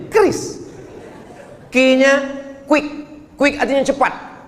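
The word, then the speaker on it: QRIS: Q ris cara bacanya gimana sebetulnya? Kris.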